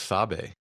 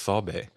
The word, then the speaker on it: Sabe: I thought it was Sabe. Mhm. Their word for Bigfoot is it's pronounced Sabe.